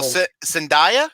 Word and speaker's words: Zendaya: don't die zendaya for Spartan and for all Sandhya is how you pronounce her name yeah she's uh she wasn't